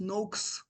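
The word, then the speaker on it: Noakes: là c'est le professeur Tim Noa qui enfin on prononce Nox normalement mais bon qui expliquait qu'en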